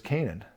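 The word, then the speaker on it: Cainan: a n right so they're spelled differently but there the same word phonetically anyway so the point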